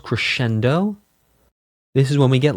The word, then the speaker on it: crescendo: So crescendo is crescendo. Diminuendo is dim-in-u-n-do. Diminuendo. Diminuendo. Crescendo. It is technically correct to pronounce multiples of crescendo as crescendi and multiples of diminuendo as diminuendi.